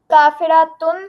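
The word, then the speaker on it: كَافِرَاتٌ: काफिरातुन, काफिरातिन, काफिरातिन। हाँ, काफिरा, थोड़ा सा लंबा करें उसको, ठीक है, तभी हमें फर्क पता चलेगा कि आप वाहिद बोल रहे हैं कि जमा।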